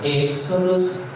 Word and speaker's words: Exodus: Continuando, abordamos aqui o primeiro livro da Bíblia, Gênesis, que é Gênesis, Êxodos, Exodus, se pronuncia Exodus e se escreve Êxodo em português.